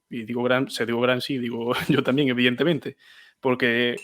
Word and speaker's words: Gramsci: Y una última cosa, hablando de pronunciación, la forma correcta de pronunciar, como quien dice, es Gramsci, porque los italianos la SC lo utilizan como sustitución de la X, por eso también fascismo, ellos pronuncian fascismo.